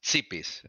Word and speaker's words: Tsipis: you pronounce again tipis it's it's sea peace exactly there's a t there's a it's a Greek yeah it's [ __